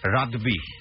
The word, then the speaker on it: রাদবি: আপনারা ওখানে ফোন করে বললেই হবে রাব্বি রেজার। আসলে তো ওনার নাম রাব্বি রেজা না, এটা আমরা কিন্তু ভুল করে উচ্চারণ করি। অনেকেই দেখলেন ফেসবুকে অনেকেই এটা নিয়ে আমাকে গালমন্দ করেছে, রাদবি, RADBI, রাদবি।